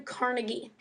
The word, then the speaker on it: Carnegie: is a man named Andrew Carnegie um or carnegi depending on how you want to pronounce it Andrew Carnegie produced really cheap steel